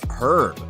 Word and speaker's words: herb: Another tip, be careful with pronunciation, especially words like herb. In American English, the H is silent, but in British English, it is pronounced.